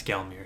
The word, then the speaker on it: Gelmir: And then afterwards, you can travel back to the Mount Gilmer location, or Gelmir, however you say it. I apologize if I mispronounced it. But travel back to this location. Yeah, it's Gelmir.